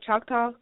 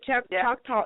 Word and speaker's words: Choctaw: Choctaw. She's a Choctaw Indian. Well, you know, some people say Choctaw, but go ahead. Choctaw. Okay, Choctaw or Choctaw. They have. Either one.